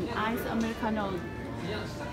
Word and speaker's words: Americano: Nhưng mà ở Hàn, Ice Americano sẽ không được phát âm như thế mà sẽ đọc là Ice Americano.